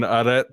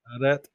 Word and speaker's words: arrêt: ever pull up to an arrête sign? A what? To a what? Arrête?